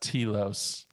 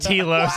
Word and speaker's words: Telos: those of you that have been listening to The Living Force since its inception, I just want to say it's pronounced Telos. Oh my God! It is pronounced Telos.